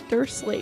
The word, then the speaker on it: Dursley: Okay, I actually don't know how to pronounce the name. How would you say it? Dursley.